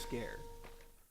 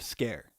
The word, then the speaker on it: Sker: on made of scare i think it's pronounced scare uh i believe that is the pronunciation and to get started